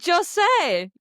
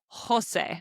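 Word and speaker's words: José: And we now know that every time we see the letter J in Spanish, we pronounce it like the H in English. You say Jose.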